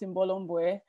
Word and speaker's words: Imbolo Mbue: to me um so my name is in bolomboe which i've been told it's not an easy name to pronounce but it is pronounced in bolomboe and i am like